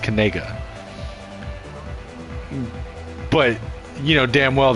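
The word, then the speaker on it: Knigga: according according to him where his family is pronounced kega but you know damn well that's not how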